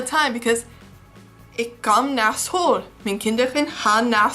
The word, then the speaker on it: school: exists in English except you're supposed to pronounce it Skoal and I got that one down because I practice it like all the time because ik kom naar school, mijn kinderen gaan naar school.